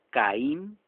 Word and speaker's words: Caín: Otros nombres, Caín, con I y acento en la I.